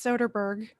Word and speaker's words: Soderbergh: with steven soderbergh i looked up how it's pronounced it's soderbergh so somebody asked him about why he likes